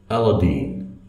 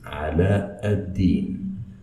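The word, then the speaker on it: علاء الدين: In the West they say Aladdin, but in fact this is a wrong pronunciation for the name, because the right pronunciation for it is Ala ad-Din.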